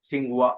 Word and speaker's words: Tsinghua: The name of university is National Tsinghua Xing like the this is silent Tsinghua University Taiwan okay so let me open it.